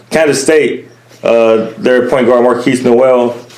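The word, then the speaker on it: Markquis Nowell: Their point guard Marquise Noel, that's how you pronounce his name, number 2 in assists per game.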